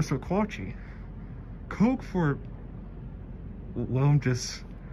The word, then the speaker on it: Sequatchie: Sequatchie for Sequatchie.